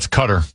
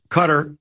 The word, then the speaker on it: Qatar: Delhi, India Cutter. Cutter. It rhymes with butter.